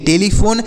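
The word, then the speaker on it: telephone: पर हमने लिखा है लेकिन अगर किसी शब्द के लास्ट में आए तो उसका उच्चारण नहीं करते हैं तो इसे हम पढ़ेंगे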